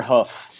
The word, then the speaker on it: Deerhoof: you back for the Deerhoof announcement. It's Deerhoof with a double O. Let me just amend that. So, That's what I thought. Yeah, the Americans pronounce it hoof. Oh, yeah, that's how you say it.